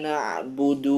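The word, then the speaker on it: نَعْبُدُ: Kemudian membaca dal pada na'budu dengan dhammah yang tidak sempurna. Na'budu, ya, sempurnakan dhammah pada dal di kalimat ini.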